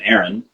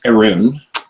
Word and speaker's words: Arun: I mean, if you want the actual pronunciation, everyone calls him Aaron, but it's Arun, but no one pronounces it that way.